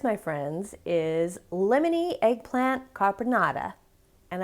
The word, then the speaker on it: caponata: friends is lemony eggplant carbonata and i am saying it totally wrong there's an emphasis on the last syllable but i can only